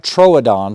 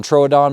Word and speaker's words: Troodon: body and it's also a little fatter correct pronunciation is a combat Troodon Troodon means wounding tooth or it's kind of like